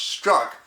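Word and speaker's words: Strzok: special agent or inspector peter s-t-r-z-o-k pronounced struck started in fact the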